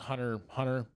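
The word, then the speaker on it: Hunter × Hunter: because it was called Hunter Hunter with the X in the middle which you don't pronounce um I thought it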